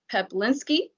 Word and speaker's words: Peplinski: penick's with suny eoc i butchered your last name i am puerto rican so it's my latina accent i'm gonna go ahead with peplinski you got it perfectly right liza okay beautiful with heck